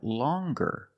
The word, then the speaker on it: longer: But then you have longer where we have the hard G sound longer with a nasal sound M plus the hard G.